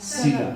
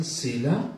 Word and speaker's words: Selah: हाँ, सीला है ना? हाँ, बस SELAH, ठीक है। इसका प्रोनाउंसिएशन सीला या सेला है।